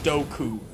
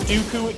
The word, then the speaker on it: Dooku: doku I forgot doku it's literally spelled with two o's how are you gonna make it there you go how are you gonna try to convince me that's doku what's that be when it's spelled Dooku they pronounce it Dooku in the movie that you wrote and produced like if they were